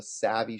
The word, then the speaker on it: SAVI: It's called the Savvy shooting system: savvy, wisdom, cleverness, intelligence. Right? But it's spelled SAVI, and that's all the systems I'm rolling out are savvy systems.